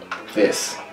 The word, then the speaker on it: Visq: The V-I-S-Q, I'm like it, it's short. I'm like, how do I pronounce that? And I was like, Visa, Visk. People like Visk, they love saying Visk. I was like, Visk. I read it like Visk.